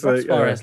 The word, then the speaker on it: Suarez: Yeah, it's Suarez, like the footballer Luis Suarez.